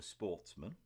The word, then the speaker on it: sportsmen: up which were of good family who were Sportsmen uh French word pronounced with the accent on the man the